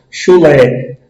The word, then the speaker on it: chulé: Chulé. A sílaba Lé tem um timbre mais forte, um sonzinho mais forte.